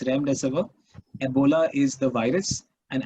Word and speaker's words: Remdesivir: It's actually Remdesivir. Okay, it's Remdesivir. Okay, Remdesivir is the name of the I always get the pronunciation wrong. It's Remdesivir.